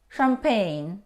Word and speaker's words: champagne: combination C and H we don't pronounce we pronounce champagne mustache or mustache it's a line of hair